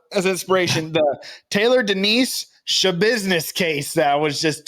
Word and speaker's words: Schabusiness: Schabusiness.